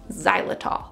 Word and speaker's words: xylitol: as the main ingredient it's spelled with an x xylitol this is a particular